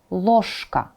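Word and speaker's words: ложка: of K right so instead of saying you say it as loshka loshka another example of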